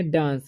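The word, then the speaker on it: dance: तो इसे पढ़ेंगे डांस, डांस से नहीं, ठीक है। डी से हो जाएगा ड, और आई ई का उच्चारण हो जाएगा, आई का उच्चारण हो जाएगा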